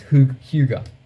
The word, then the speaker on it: hygge: It's hige or hygge, I think. But absolutely butchered the the pronunciation. It's Huga.